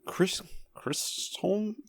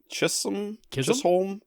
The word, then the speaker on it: Chisholm: Stephen and Chisholm? I don't know how they pronounce it. There's no R in there. Chisholm?